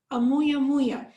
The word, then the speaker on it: Oumuamua: More evocatively, it was dubbed Oumuamua, pronounced Oumuamua. From the Hawaiian, meaning roughly scout.